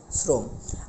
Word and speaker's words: শ্রম: বলতে হবে আমাদের শ্রম উচ্চারণের ক্ষেত্রে হবে শ্রম আশা করি ব্যাপারগুলো সকলে বুঝতে পেরেছেন তাহলে কি দাঁড়ালো র ফলা থাকার কারণেই অ এখানে একটি করে নতুন করে আমাদের ওকার ব্যবহৃত হলো অর্থাৎ সংবৃত্ত উচ্চারণ হয়ে গেছে তাহলে আজকে আমরা যেটি